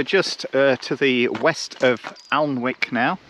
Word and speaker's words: Alnwick: So we're just to the west of Alnwick now. How do you pronounce it? Alnwick? Annick?